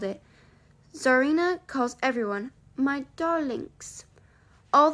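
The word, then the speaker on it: Czarina: name is from russia c-z-a-r-i-n-a which you have to pronounce zarina oh so i don't know why you would bother with the c but that's english for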